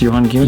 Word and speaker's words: Gielen: How do you pronounce Johan Gielen?